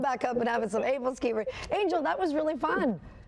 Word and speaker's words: æbleskiver: Æbleskivers. Æbleskivers. Who? Æbleskivers. Æbleskivers, if we're going to say it American style. Oh, all right, Æbleskivers. I look forward to going back up and having some Æbleskivers.